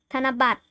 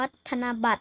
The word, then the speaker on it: ธนบัตร: มงกุฎ รถ โดย ชะตา ธนบัตร อัน นี้ อัน นี้ อ่าน ว่า ธนบัตร นะ คะ ไม่ ใช่ แบบ ธน บัตร มัน อ่าน ว่า ธนบัตร นะ ครับ เออ ผม ลืม วัน